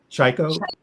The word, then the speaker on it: Tchaiko: Ch- Pronounce your Tchaiko. name. Chaiko, Yeah, you got it.